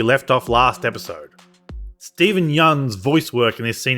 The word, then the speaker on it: Yeun: He's normally so good, and I had to look up how to pronounce Yeun. From the man himself, it's just like Y-U-N, Yeun.